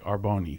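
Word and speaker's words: R'Bonney: she's um her name is it's hard to pronounce it I guess it's arboni it's literally our apostrophe b-o-n-n-e-y arboni you're showing me that as if I was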